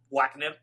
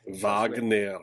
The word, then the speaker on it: Wagner: And just as a final thing, it's Wagner, man. It's a German word. You can pronounce it. It's not Wagner. That sounds like wag. Wagner.